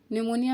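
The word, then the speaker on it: pneumonia: निमोनिया में P silent होता है, आप सब क्लियर होंगे, इस चीज से अवेयर होंगे।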